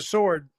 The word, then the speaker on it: sword: a w but really the w doesn't sound it's silent the sword yes the w is